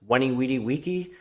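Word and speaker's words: VICI: symbol sitting at 29.81 it's Wiki I came I saw I conquered I'm pretty sure that's how you say it I took Latin these guys specialize in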